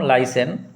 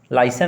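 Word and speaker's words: lichen: Litmus solution is a purple die which is extracted from लाइसेन. लाइसेन read करते हैं, CH silent है यहाँ पे, लाइसेन बोलते हैं इसे.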